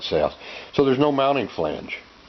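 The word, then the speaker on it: SEAS: Some people pronounce it C's. I call it Seos.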